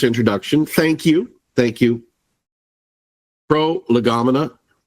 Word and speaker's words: Prolegomena: Pro- Legamina. I sometimes jokingly pronounce it a pro lego mina because it's such an unusual term for people not not familiar with the topic.